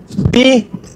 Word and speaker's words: die: Die Nichte, la sobrina. Die se escribe D-I-E, pero se pronuncia di, o sea, la E desaparece.